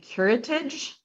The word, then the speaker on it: curettage: But it's a dilation and curettage.